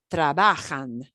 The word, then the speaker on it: trabajan: the punch the punch the stress generally comes on the second to last not the last syllable the second to last syllable trabajan so this is pronounced